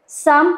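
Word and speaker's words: Psalm: मधले साम्स आहेत साम 23 म्हणजे त्याचा प्रोनाऊन साम आहे पण त्याचा स्पेलिंग आहे पी एस ए एल एम अच्छा साम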